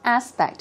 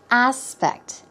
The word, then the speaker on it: aspect: Aspect. Here we go. The stress goes on the first syllable. Aspect.